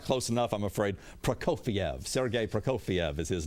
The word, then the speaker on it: Prokofiev: Oh, that was a Petrofek. How do you say his name? Petrofek? Yeah, you were close to it, but not close enough, I'm afraid. Prokofiev.